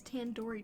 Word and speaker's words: tandoori: you at least recognize tandoori chicken you're saying it wrong wait really tandoori 10 do read the do isn't like indoor it's like doodoo head are you five years